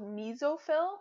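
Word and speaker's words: mesophyll: tissue in the leaf called mezzo Phil that's how you pronounce that word and that's actually where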